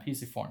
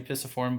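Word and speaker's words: pisiform: this little p is called your pissy form p i s a f o r m p c form all right that's an easy way to remember p p z form it's actually pissiform but we can change the the pronunciation a little bit to help us remember what it is pc form all right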